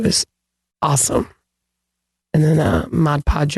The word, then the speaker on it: Mod Podge: awesome and then uh Mod Podge over it I said it right that time talk about that how we've been calling it Modge Podge or I don't even something else well I think I always called it Ma Podge because of the hjge